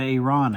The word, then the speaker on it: Iran: Started the Iran again, which that's how it's pronounced.